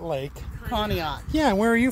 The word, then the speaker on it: Conneaut: from con Lake how do you say it conat Lake conat yeah and where are you from Southern Maryland